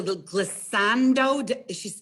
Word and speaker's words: glissando: Octavia loved the glissando.